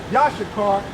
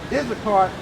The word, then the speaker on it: Issachar: So Yashakar, okay, Issachar is how you say it in English, but Yashakar in the Hebrew meaning he is higher.